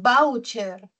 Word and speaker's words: voucher: Esta palabra tiene la mayor fuerza de voz en vau.